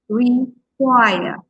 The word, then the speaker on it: require: So you can stress the last part, require, require, decide, decide, okay?